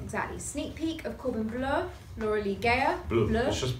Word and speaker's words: Bleu: Sneak peek of Corbin Bleu, Laura Lee Gayer. Blue. It's the color. Blue. Corbin Bleu. Laura Lee Gayer. You say French. You do like a French version of Bleu. That's Bleu.